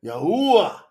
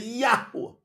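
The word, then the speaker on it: יהוה: A yud is pronounced like y. That's why you say Yahuwah. So it's a Y, but a Y sound has an E in it. Just like the letter I in Spanish.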